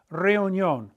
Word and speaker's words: reunión: Why is there an accent mark there? Well, we know that tío for uncle has an accent on the I. We know that the word for river, rio, has an accent on the I. To break up the diphthong, remember, a diphthong are